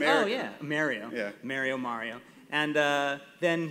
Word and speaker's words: Mario: I'm like, it's the same in Japanese. And it's like, but it has to sound American. So it's like, Mario. And then he's like, oh, yeah, Mario.